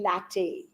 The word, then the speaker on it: LaTeX: is the latte it's it's spelled as latex but it's actually latte what is latte you